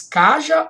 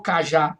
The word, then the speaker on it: cajá: e olha o cajá você diz Caja ou cajá Observe agora a tonicidade foi para a última sílaba essa palavra oxítona e se você não acentua a paroxítona i.a.